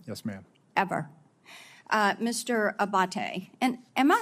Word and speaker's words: Abate: to happen again yes ma'am ever uh Mr Abate and am I saying your name properly we've heard it pronounced three different ways today in the hearing aate Senator aate okay thank you um you had mentioned a